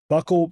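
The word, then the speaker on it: buccal: One I know is that they've actually developed buckle mucosa or I don't know if you pronounce it, bugle or buckle. Mucosa, either one usually, but depends on what part of the country you're from.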